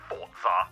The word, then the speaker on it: Forza: to say after reviewing the evidence the correct pronunciation is definitely fortza Ah that's what I thought thanks for that